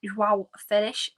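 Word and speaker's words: João Félix: Or if you want me to pronounce it in the Portuguese way, I think it's João Felix.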